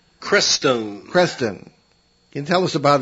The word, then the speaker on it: Crestone: Let's get back to talking about, in Chapter 21, you deal with the Crestone Manifesto, or Creston, am I pronouncing that correctly? Crestone.